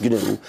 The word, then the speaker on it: GNU: Well, first of all, GNU is the name of the operating system I started in 1983. Yeah. It's pronounced GNU.